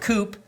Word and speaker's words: coup: the fact that Elway had planned a secret coupe pronounced coup for some reason that involved firing vance